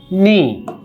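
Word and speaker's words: に: নি। খেয়াল রাখবেন, নি। জাপানে হিরাগানায় একটা অক্ষরও আছে নি। এই নি মানে হচ্ছে বাংলায় 2। এটা রোমাজি কি লিখবো? এন আই নি।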